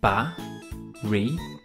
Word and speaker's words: Baryonyx: Baryonyx.